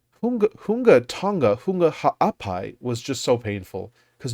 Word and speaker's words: Ha'apai: just so painful because no one can say Ha'apai, even though it's so like if you know how to say it, it's not really hard for an English speaker to say Ha'apai.